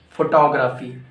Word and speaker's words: photography: No, it's incorrect. Photography. Photography. Photography. Now, okay, very common.